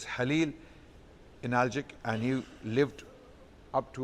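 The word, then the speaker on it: Halil İnalcık: His name was Halil Analgic, or Khalil Analgic, but Kha is not pronounced in Turkish, so it's Halil Analgic, and he lived up to 100 years from 1916 to 2016.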